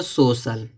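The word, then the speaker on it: social: देखो यहाँ पे दिया देखो सोशल। अब देखो सी के बाद आई है और ए दोनों है, आई ए दोनों है तो यहाँ पे देखो सी का उच्चारण क्या निकला है? बड़ा सा निकला है।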